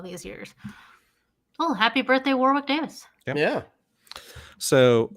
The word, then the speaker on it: Warwick Davis: had to yeah yeah so well i'm just pronouncing it's warwick davis oh yeah he just i just thought i had it wrong all these years oh happy birthday warwick davis yeah so like i i like uh like